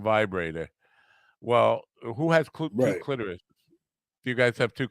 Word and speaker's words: clitoris: I know it's clitoris, and I always say clitoris. I don't know because it rhymes with lavoris, which you use after licking the clitoris.